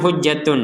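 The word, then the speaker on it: حجة: kita bacanya barusan hujjah Kenapa dibasa dibaca dengan hujjah jadi ta yang bulat ini kita baca dengan huruf ha sebagai huruf Ha kenapa karena berhen berhenti alaikum hujjah karena berh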